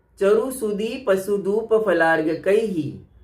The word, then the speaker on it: चरु सुदीप: कई, तो चरु सुदीप इसके स्थान पर लोग बोलते हैं सरस्वते। इसमें सरस्वते या सरस्वती शब्द नहीं है, सरस्वती नहीं है, चरु सुदीप है। च से चम्मच, चरु सुदीप, तो शुद्ध उच्चारण करना चाहिए।